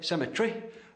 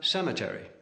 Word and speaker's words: cemetery: Where the English say cemetery, the Americans have cemetery.